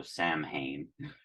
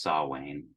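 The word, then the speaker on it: Samhain: spelled like s m h i n so Sam Hayne it's pronounced sa Wayne I don't know how that happened but it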